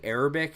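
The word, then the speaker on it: عربي: actually, or I'm sorry, the A in the beginning is an Ein. So when we say Arabic and we put an A there, it's actually transliterated incorrectly.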